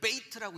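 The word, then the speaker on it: בית: 자, 이 배는요, 히브리어의 두 번째 글자인, 영어로 따지면 A, B 할 때 B, 두 번째 B자인데 여기에 베이트라고 읽는데 이게 뭐냐면요, 이게 두 단어가 겹친 거예요.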